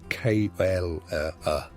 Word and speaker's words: cholera: hours and small wages, of cholera, pronounced k o l e r a, and typhus, pronounced typhus,